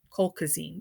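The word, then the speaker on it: colchicine: are on allopurinol if they have gout attacks coal cuisine yep that's how you say it it's good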